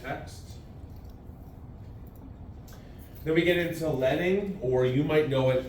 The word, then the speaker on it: leading: would probably still be referring to it as leading. I know it reads leading, but it's pronounced leading.